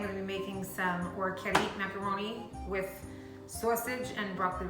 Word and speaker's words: Orecchiette: back to my kitchen, and today I'm going to be making some Orecchiette macaroni with sausage and broccoli rabe.